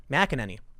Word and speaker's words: McEnany: No one is pressuring the FDA to do anything, Trump's press secretary Kayleigh McEnany said on Thursday. You know, I've been pronouncing her name wrong, and someone told me that. McEnany.